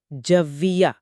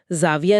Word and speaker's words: جویہ: عیان۔ اور تیسرا، جویہ، یہاں بھی تلفظ اہم ہے، جویہ، زاویہ نہیں ہے۔ جویہ، ٹھیک ہے۔ یہ